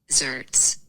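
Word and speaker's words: xerts: e r zerts zerts I'm going to say zerts let's see what YouTube says zerts zerts so what do you think zerts is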